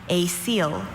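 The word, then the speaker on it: coel: A seal. A seal. Are there any alternate pronunciations?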